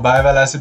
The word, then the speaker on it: Bergwall: effects my name is Bert ball or bile acid pronounced in Sweden and today I'm gonna